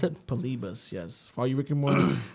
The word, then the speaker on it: Polybius: the uh the urban legend of polybus yes polibus that's how you pronounce it polibus yes for you ricky moore for all you